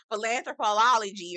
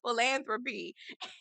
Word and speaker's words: philanthropy: Philanthropology or something like that. It was like, what? It's philanthropy.